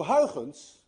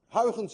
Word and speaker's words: Huygens: Huygens, by the way, is difficult to pronounce. Anyone of you who knows how to say Huygens correctly is also Dutch, because you miss the ui in your language and you miss the ch in your language.